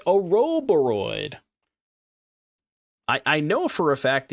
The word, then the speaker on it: Ouroboros: Oh, it's Ouroboros.